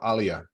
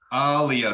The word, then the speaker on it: Alia: pronouncing my unmute uh Jay's silent but Elijah is my English version of Alia Alia thank you I know that